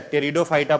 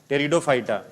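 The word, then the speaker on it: Pteridophyta: तीसरा टेरिडोफाइटा रिडो phyta P silent रहता है ठीक है टेरिडोफाइटा प्रोनाउंस करते हैं टेरिडोफाइटा डस दे करके लिखिए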